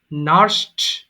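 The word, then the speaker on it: nursed: নার্স সেবা করা, নার্স, নার্সড, নার্সড। যদিও লাস্টে ডি আছে কিন্তু উচ্চারণটাকে ঠ আসবে, আপনি চাইলে এটাকে ড উচ্চারণ করতে পারবেন না, নার্সড হবে না, নার্সড।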